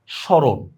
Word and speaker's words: স্মরণ: এজন্য মনে রাখবা দেখো ম ফলা যদি শব্দের শুরুতে আসে তাহলে তার কোন উচ্চারণ নাই দেখো স্মরণ মফলার কোন উচ্চারণ নাই